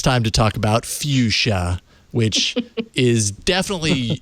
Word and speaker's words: Fuchsia: You got to put the CH Fuchsia. before the S.